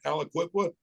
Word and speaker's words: Aliquippa: Yeah, Did I yeah, pronounce that right? Aliquippa.